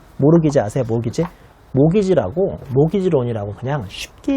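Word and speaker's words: mortgage: 모르티기지. 티 발음은 묵음이고요. 모르기지 아세요?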